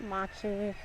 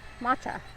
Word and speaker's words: matcha: Not matchi. What is that green flavor? Matcha. Yeah, matcha's not my It wasn't that color.